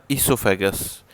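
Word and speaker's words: esophagus: next आता है हमारा इसोफैगस इसको लिखते हैं वहीं एसओ लेकिन बोलते हैं इस अफेयर पहला वाला जो है साइलेंट है है क्योंकि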